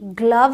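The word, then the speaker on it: glove: नहीं है कम है जी एल ओवी ई ग्लव है तो ये एक्सेप्शन हैं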